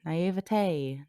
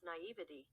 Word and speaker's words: naivety: say that word naivety naivete naivete hey Google how do you pronounce naivety that's pronounced naivety oh well I guess it depends who you ask um okay back back